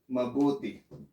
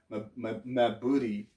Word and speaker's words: mabuti: somebody will answer you mabuti okay that's pronounced as ma in tagalog we pronounce each syllable we don't run by it you know we don't